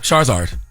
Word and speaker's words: Charizard: it Charizard Charizard oh that's what it would pronounced oh Charizard Char yeah you that's they would call me